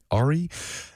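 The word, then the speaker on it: Arey: It's spelled A-R-E-Y, so Ari.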